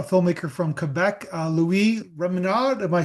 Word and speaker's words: Rémillard: Am I saying how do I pronounce Say your last name in in the French style. Uh, you could pronounce it. Remiar. Remiard. But how do you say it? Remar. Okay. That would be with the Canadian French accent.